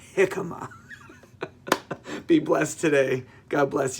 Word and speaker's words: jicama: wife sends you these these jicama sticks they're pronounced jicama be blessed today god bless you guys bye